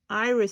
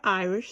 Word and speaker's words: iris: stitch you're making an Irish Stitch Above it so now in the next Stitch which is your Irish Stitch your iris I should say i i s I'm sorry the way I pronounce it you're going to